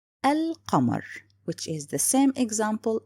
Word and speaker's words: القمر: In this case, it's written and pronounced. So the word here, al-qamar, which is the same example as the previous words.